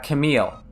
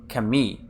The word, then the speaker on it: Camille: like um like a Camille like her Japanese is Kami because you know she has a French name so I don't say Kami in English I say Camille in English and can meet you